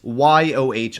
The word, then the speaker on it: Yoh: about the Mark 6 YOH or as people have been telling me in the comments pronounced the Yo as I think it was the name of the family that tried developing these vehicles.